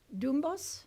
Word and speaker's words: Doornbos: Now we're going to turn to Doornbos. Is that how you pronounce it?